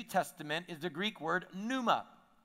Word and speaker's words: pneuma: is the Greek word pneuma Numa the p is silent in pneuma and that word in